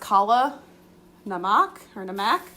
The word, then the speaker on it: kala namak: This is actually if anybody hasn't tried this, I think it's pronounced kala namak.